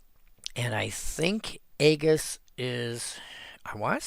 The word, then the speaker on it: Aegis: It was, this is why it's called gamma and not jamma. So it was a hard G. And Latin had no soft G.